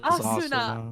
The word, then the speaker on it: Asuna: It is Asuna.